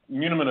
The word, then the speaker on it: muniment: someone else is looking at, and the full munimen of title, and you are pronouncing it correctly, as is indeed not applicable just to the property itself.